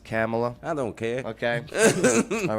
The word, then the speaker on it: Kamala: how they buying cars Camala Vice VP didn't he sign the bill Bae it's pronounced camela I don't care okay